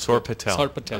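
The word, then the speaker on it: sorpatel: going dish is called SAR Patel let's see right down it's I'll spell it okay s-o-r-p-a-t-e-l now this is going to get a lot of viral hits so that's sore Patel okay yeah yes SAR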